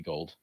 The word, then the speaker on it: Gould: so they actually extended Robbie Gould or gold I guess is his name Robbie gold sorry it's spelled Gould and it always throws